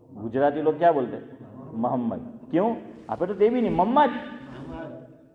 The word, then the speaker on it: محمد: محمد زبر میم پر یا پیش؟ پیش. لیکن آپ نے بولا محمد زبر، آپ نے جو تلفظ کیا حنیف بھائی، آپ نے محمد بولا ہے، تو یہ آپ نے صحیح بولا ہو لیکن آواز ایسی آ رہی. یہ محمد ہے میم پر پیش، لیکن ہم لوگ گجراتی لوگ کیا بولتے ہیں؟